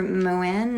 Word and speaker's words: Moen: She worked for Moen, or I think it's called Moen. I've actually heard quite a few different pronunciations of it, but it's a skin and a hair care company.